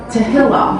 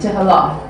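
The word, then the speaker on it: תהילה: Tehillah. ここに書いてあるとおり、テヒラ。 Tehillah. Yeah. The emphasis is on the end. Tehillah.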